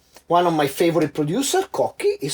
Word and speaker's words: Cocchi: So for example, one of my favorite producers, Cocchi, is spelled like this, and you see as C-H-I, but becomes a Chi, Cocchi.